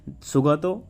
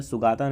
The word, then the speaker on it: Sugata: लिखा गया है यह चैप्टर, जिसका नाम है द ग्रेट स्केप, सुगतो बोस के द्वारा। ये इसका बंगाली प्रोनाउंसिएशन होगा, बंगाली में सुगाता नहीं पड़ेगा, इट्स सुगतो।